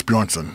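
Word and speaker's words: Björnsson: uh half the julius bronson just call him thor say it again half thor julius bjornsson half thor julius bronson bjornsson bjornsson yeah that's it yeah he's a savage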